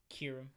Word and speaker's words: Kyurem: How do you pronounce his name, by the way? Kyurem or Kyurem? Kyurem. Kyurem, okay, so the same as me, okay.